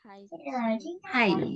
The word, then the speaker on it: high: Hai. Jadi kamu cara membaca hai-nya sama kayak kamu bilang hai, hello, hai, yang gitu ya. Oh, gitu. Cara membacanya sama. Hai. Jadi Hai. GH-nya nggak dibaca.